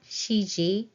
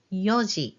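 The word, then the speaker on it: 四: 3:00 Sun G now 4:00 is always Yi it's not Shi Yi you have to say Yi for 4:00 5:00 GOI 7:00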